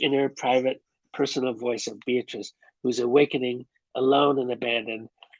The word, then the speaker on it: Beatrice: but she knew this her name was indeed beatrice it had a certain flow three syllables and never just two thank you very much